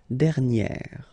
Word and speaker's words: dernière: Okay, and you will get dernière.